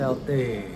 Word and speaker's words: Marcel Thee: Kali ini sama Marcel tu atau T atau apa sih dibacanya? Bacanya sebenarnya T. Marcel T.